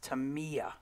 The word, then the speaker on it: Tamiya: Tamiya spray paint, and I guess it's pronounced Tamiya spray paint.